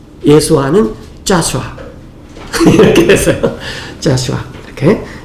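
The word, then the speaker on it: Joshua: 여호수아는 이스라엘 말로 발음이 어떻게 되죠? 여호수아는 영어로 짜슈아예요. 짜슈아.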